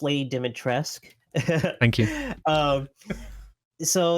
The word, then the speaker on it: Dimitrescu: uh coming up with the idea of lady dimetrescu to the to the finished product how how long does that process sort of take uh yeah so uh first of all pronounced lady dimitressk thank you so like the uh the the